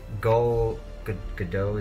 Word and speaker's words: Gal Gadot: One of the best things about Wonder Woman, because again, I will always say this, I think Gal Gadot, is that how you say her name?